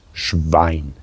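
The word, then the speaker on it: Schwein: the pig yeah the pig is in German schine which is also a slur can be of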